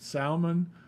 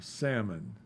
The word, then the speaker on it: salmon: Is it salmon or salmon? I think it's can be pronounced both ways.